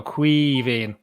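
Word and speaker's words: Caoimhín: time around allison think the best way to imagine how to pronounce it nail is imagine you're half pissed right and just go queeving and there you go that's it's that that's that's simple it's like a knee but it's not yeah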